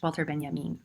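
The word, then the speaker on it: Walter Benjamin: space is somebody who is whose name is pronounced walter ben yamin and he composed a stupendous work of interdisciplinary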